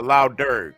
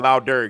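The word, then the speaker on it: Lough Derg: yeah it's in Ireland it's uh La dur is the island wow right put in lder it's spelled l o u GH and then um uh yeah L dur you see that right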